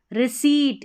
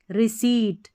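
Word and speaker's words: receipt: पर्सव यह है रिसीट। इसको रिसीव पढ़ेंगे। क्या पढ़ेंगे? रिसीप्ट रिसीप्ट रिसीप्ट नहीं पढ़ेंगे क्योंकि यहां पर जो है पी साइलेंट है।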